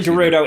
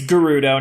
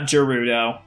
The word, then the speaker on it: Gerudo: Actually, Gerudo is correct. Is that how they pronounce it in Breath of the Wild? Because I feel like Yes. that's probably... Okay. Yeah, it's Gerudo, not Gerudo.